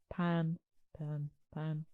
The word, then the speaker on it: Pin: I'm going to say Pin, but it's because my French accent is appalling and it's more of a pan. But it's spelled Pin, and my French accent's not very good.